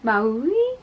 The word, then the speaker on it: Maui: Now this is a company that I couldn't pronounce for so long because it's spelled M-A-U-I and I was like, is that Maui? But it's Maui, like Moana.